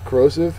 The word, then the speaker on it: corrosive: sign on Google Images corrosive is an adjective second syllable is accented it means eating away